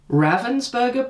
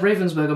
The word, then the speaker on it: Ravensburger: is this puzzle here it is a ravensberger puzzle now I'm told that's the correct way to pronounce it uh but I've said Ravensburger my whole life so if I if I say Ravensburger then it's just full of habit but anyway it's uh